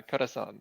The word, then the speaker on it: Corazon: Yeah, Corazon. Yeah, thank you. That was the right pronunciation, yes.